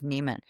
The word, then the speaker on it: Nemon: He hands her the check, and our last name is spelled Nemon. It's an unusual spelling of Neiman.